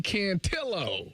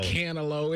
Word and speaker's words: Cantillo: That's Joey Cantillo. Oh, not no Canelo. It's Joey Cantillo.